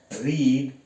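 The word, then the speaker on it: read: जो हम बोलते हैं वो अलग होता है रीड रेड रेड इसको हम रीड और इसको रीड नहीं पढ़ेंगे रीड रेड रेड स्पेलिंग वही रहेगी have you रेड a book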